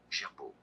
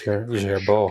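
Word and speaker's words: Girbaud: Gerbeau is how it's Gerbeau.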